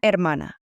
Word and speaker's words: hermana: Brother is hermano, and sister is hermana. Remember that silent H at the beginning.